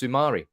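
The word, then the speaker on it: Soumaré: coming in with pronunciations it's pronounced Sumari well I'm sorry Sumari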